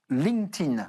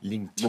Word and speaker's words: LinkedIn: Alors vous pouvez remplacer le D par un T. LinkedIn. LinkedIn.